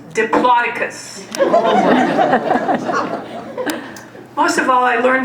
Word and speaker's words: Diplodocus: and I quote, "Miss Osrin, I believe that's pronounced Diplodocus."